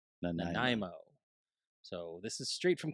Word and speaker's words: Nanaimo: All right, so according to Tom, this is pronounced Nanaimo. Nanaimo.